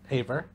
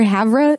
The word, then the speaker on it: Havre: Haver. Is it Haver or Havre? It's Havre.